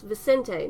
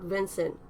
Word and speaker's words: Vicente: That's Vicente, not Vincent.